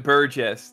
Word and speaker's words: Burgess: Okay, now in the anime they say they pronounce it Burgess. They say Burgess.